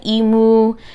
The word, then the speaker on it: emo: And then Genevieve, she's kind of like emo, right? That's how you say it, not emu.